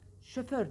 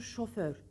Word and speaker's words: şoför: düzeltir kravat kravat kravat şoför denir Hayır doğrusu şoför şoför o ile şoför şoför bey şoför